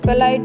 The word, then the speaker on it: plight: BRIGHT ब्राइट में आई के बाद में GHT है तो आई का उच्चारण आई से किया जाता है। PLIGHT पलाइट में आई के बाद में GHT है तो आई का उच्चारण आई से किया जाता है।